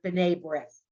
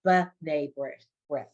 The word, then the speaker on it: B'nai B'rith: Because when it begins a syllable, it's always like an it, like almost like an apostrophe. So if I was saying to you the word B'nai B'rith, it's a, the organization